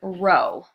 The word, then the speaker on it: rho: This is the Greek letter rho. Okay, so even though it's spelled weird, you pronounce it like row, like what row your seat is in, that sort of thing.